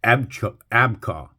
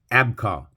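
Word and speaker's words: אִבְחָה: Strong's 19, Ebcha, pronounced Abka. Abka, from an unused root apparently meaning to turn, brandishing of a sword, point, okay?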